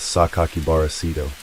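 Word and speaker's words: 酒鬼薔薇聖斗: Written in the same red ink, it included a six-character name that can be pronounced as Sakakibara Seito.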